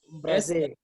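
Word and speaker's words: embrasser: Embrace. Yes, no, not Z. When you have double S, the sound S is retained.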